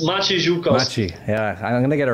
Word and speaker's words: Maciek: say your name again matchy i can't it's matchy yeah i'm gonna get a ray one of